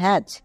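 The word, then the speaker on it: hatch: এর ফলে দেখো আমরা লিখতে গিয়ে বুঝে গেলাম যে এখানে টি সাইলেন্ট থাকবে।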